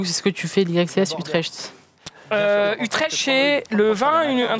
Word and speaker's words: Utrecht: Zulux, est-ce que tu fais l'YXCS Utrecht?